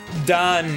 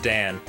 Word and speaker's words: Dan: is when like cuz Don is the Israeli pronunciation of Dan um that's just how they say A's there but like sometimes he'll